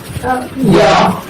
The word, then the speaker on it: ي: এরপর হরফের নাম হলো ইয়া। এটা নরম হবে, শ্বাস বন্ধ থাকবে এবং মাত্রা 6 অনুযায়ী হরফটাকে উচ্চারণ করতে হবে।